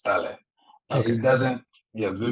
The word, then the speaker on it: Ta Lę: It's Tale instead of yeah, it's Tale. Okay. It doesn't. Yeah, the meaning is not. It has nothing to do with tail, but yes, Tale is the correct Okay. pronunciation. Tale.